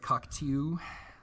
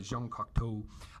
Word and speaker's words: Jean Cocteau: That's how you say it. I can't help myself. It looks like Cocteau, but Jean Cocteau.